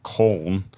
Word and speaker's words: Köln: So it's a German pale ale brewed in and around the city of Cologne, which is pronounced Köln.